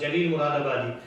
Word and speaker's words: Jalil Muradabadi: So the fellow was afraid because his name was Jalil Muradabadi, and Bengali people pronounce Ja as Za.